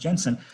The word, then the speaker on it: Jensen: he basically used en sense Jensen's this is pronounced Jensen CCC notion of forcing for adding apply one